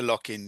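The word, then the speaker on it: Lockinge: How do you say that? Not Locking. Is the lockaro stakes group three is the locking, isn't it? Yeah. Locking. Yeah. I just find that hard to pronounce because it's never spelled like it sounds.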